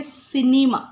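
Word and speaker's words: cinema: सिनेमा, स sound लगा हमने, सिनेमा।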